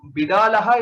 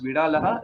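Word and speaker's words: बिडालः: So Bidalaha is the actual word, But in some cases, if you see the pronunciation as Vidalaha, it is still not a wrong thing.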